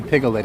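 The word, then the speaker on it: Piglet: get lucky and see pigle it again you know piget has three syllables right just check and see make sure you know that slim isn't that funny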